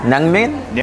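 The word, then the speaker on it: 냉면: It's always confusing when I'm eating namnyang. How do you say it? Naengmyeon? Naengmyeon, which is cold noodles, because when I hear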